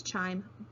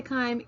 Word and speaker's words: chyme: it's spelled c-h-y-m-e and I thought it was chime but when I looked it up just to verify it it says we say kind so we're going to say kaim even though I think